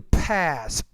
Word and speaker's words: pass: the TOEFL exam and Notice I want to pass the TOEFL exams. You need to pronounce that P with more air.